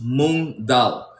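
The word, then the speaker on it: moong dal: To make your vegan eggs, you want to use moon dal. All right? It's spelled m o n g and then d a l.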